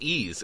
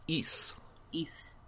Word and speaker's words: Ys: well the first thing is that it's not pronounced ease it's pronounced e east east well my bad my bad fine I